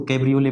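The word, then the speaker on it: cabriolet: तो दूसरी स्पेलिंग इसको कैब्रियोले पढ़ेंगे।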